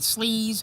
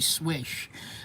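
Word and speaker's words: Slysz: A lot of people were pronouncing it Sleaze or Slize or whatever. It's actually Swish.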